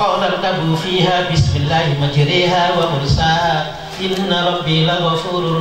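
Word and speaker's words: مَجْرٰىهَا: Maka Imam Hafiz bacanya dibaca imalah majriha, sementara tidak dibaca wa mursiha wa mursaha.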